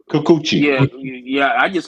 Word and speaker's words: Kikuchi: Is how you say his name? Chikuchi? Chikuchi? How You you say? say Kikuchi.